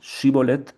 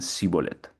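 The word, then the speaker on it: shibboleth: no en una palabra unos decían shibolet y otros decían cibolet. Una diferencia muy sutil. pero que fue efectiva para discernir unas personas de otras y matar las que no podían pronunciar bien la palabra como como correspondía para unos, ¿no?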